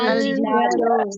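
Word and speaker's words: الجدار: তাহলে আলিফ লাম লাগিয়ে বলি দেখি আল আল জিদারু।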